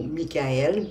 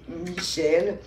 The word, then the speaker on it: Michel: J'allais dire Michael parce que c'est un archange qu'on peut prononcer soit Michel ou Michael, mais bon, ici c'est Michel.